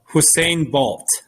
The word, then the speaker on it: Usain Bolt: Usain Bolt. I don't know how you pronounce it. Yeah, you said it right. Yeah, Usain Bolt.